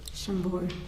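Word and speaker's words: Chambord: Shambbor. Shambbor.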